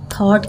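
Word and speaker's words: thought: जो थॉट word है ये जो टी के बाद पहले जी एच आया है ये साइलेंट है यहां पे थॉट की स्पेलिंग होती है टी एच ओ यू जी एच टी लेकिन इसे साइलेंट रहता है जब हम पढ़ते हैं ठीक है पढ़ने में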